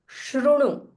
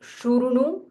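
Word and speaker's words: शृणु: Shrunu, Shrunu. It is not Shurunu, it is Shrunu. Shrunu, Guhyam, Guhyam. So in English, you can see here, there is a H followed by Y. So Guhyam, Shrunu Guhyam, Sanatanam, Sanatanam.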